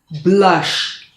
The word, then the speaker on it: blush: It's not pronounced with the Spanish U, but rather as blush.